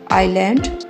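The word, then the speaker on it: island: pencil pencils computer कंप्यूटरटर्स आइलैंड इसमें S silent है आइलैंड आइलैंड्स star stars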